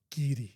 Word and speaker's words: Garioch: So, G A R I O C H is Giri.